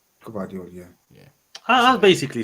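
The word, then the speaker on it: Gvardiol: I say Gvadio. Gvadio, yeah.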